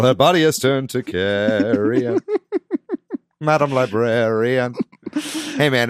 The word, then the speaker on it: Carrion: Carry On. I'm feeling really weird about saying that out loud. Carrion. Carrion. It rhymes with Marion.